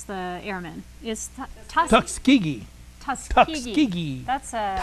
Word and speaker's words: Tuskegee: How do you pronounce the airman? Is Tuskegee.